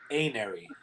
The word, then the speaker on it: Anery: Like, Anery is actually pronounced Anary, right? Because it's just like amel, right?